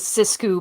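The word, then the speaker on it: sixku: it's it's it's spelled six coup but i pronounce it cisco because i'm i'm french and i just can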